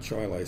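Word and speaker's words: Chili: a little school called Chilai, spelled Chile, but they pronounced it Chilai.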